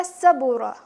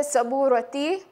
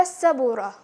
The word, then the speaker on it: السبورة: there's a ta marbuta, it will be pronounced more like a ha.